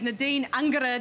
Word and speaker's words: Nadine Angerer: outstanding goalkeeper for the Roar, and that is Nadine Angerer. Did I pronounce that well enough?